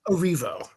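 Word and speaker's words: Erivo: So, I'll let you go and tell us about Ariana Grande and Cynthia Eravo. Is that how you say her name? Arivo.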